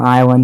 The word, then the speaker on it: island: the is short for Island even though the S is silent okay it took me